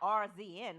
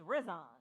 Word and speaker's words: Rizon: So it's not RZN like I said. It's Rizon.